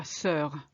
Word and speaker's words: sœur: It's it's la sœur, the sister. You completely ignore the O.